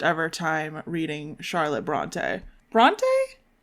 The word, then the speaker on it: Bronte: Bronte? That's how you say it? Bronte.